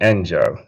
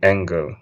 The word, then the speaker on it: Engel: because it's German and you could pronounce it any which way, right? So, there are people who call me Engel because they've heard other people call me Engle.